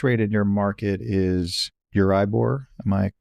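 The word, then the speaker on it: Euribor: So the base rate in your market is Uribbor. Am I pronouncing it correctly?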